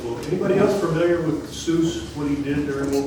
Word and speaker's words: Seuss: Uh, Seuss Geel, and it's actually pronounced So, rhymes with Royce.